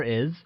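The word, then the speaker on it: 爱: to love or love translates as I which is pronounced using a falling tone like I good to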